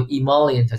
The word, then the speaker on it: emollient: 个单词啊，就是读 emollient，就是皮肤柔软，是